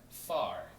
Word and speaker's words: far: 그러면 far, far, 그죠? 그래서 팔도 아니고 활도 아니에요, 그죠?